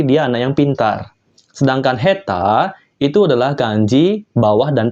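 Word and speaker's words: 下手: bawah oke dia cara bacanya juga spesial yaitu heta yang artinya tidak pandai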